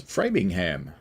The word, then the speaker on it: Framingham: Noah says, I'm pretty sure they say Framingham as Framingham. Well, that is quite possible. Noah says the same pronunciation in the UK for once, and there will be mixed sets as well.